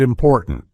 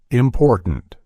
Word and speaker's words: important: button gotten eaten and important have you noticed how my throat momentarily constrains the tea sound in the middle of these words listen closely again button eaten gotten important it's interesting to observe